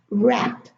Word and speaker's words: wrap: Wherever we have a WR, the W is silent.